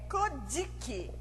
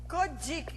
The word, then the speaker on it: Kojiki: Ela apareceu pela primeira vez no livro, olha a pronúncia aqui, é Kojiki. Kojiki, que se pronuncia essa palavra aí.